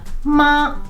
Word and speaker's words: mā: So the word ma in a flat tone, the first tone means mummy, mother, ma.